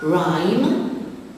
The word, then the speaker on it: rhyme: Rhyme, the silent letter is the H after the R.